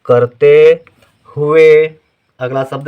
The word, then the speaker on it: हुए: हु ध्यान से सुनिए हुए हु हा के साथ उ का उच्चारण है लेकिन छोटे उ की मात्रा रहेगी क् हुए कम देर के लिए है हुए यदि हुए होता तो बड़े उ की मात्रा होती हुए नहीं पढ़ा जाता हुए पढ़ा जाता है ठीक